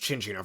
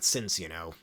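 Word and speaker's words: Cinccino: It's pronounced Chinchino for some reason, not Cincino.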